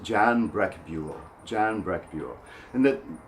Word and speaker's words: John: And that my first name, John, when we take it into Spanish, Spanish speakers always pronounce it Joan. Joan. My name is Joan. And in Arabic we pronounce it the same way because the vowel is the same. Joan. Joan. Ismi Joan. Me llamo Joan.